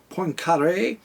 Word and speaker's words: Poincaré: time, and the ether that Hendrik Lorentz, Henry Poincaré, I think it's Poincaré. I used to pronounce it Poincaré, and I took it in the teeth for that too.